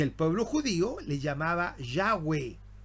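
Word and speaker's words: Yahweh: Bendito sea Dios y de ahí comienza a nombrarse yahwe los judíos lo pronuncian así ya Y por qué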